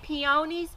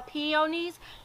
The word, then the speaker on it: peonies: on where you're from if you say peonies or peonies it's kind of like tomato tomato it just kind of depends on where you're from and how you say it so for me i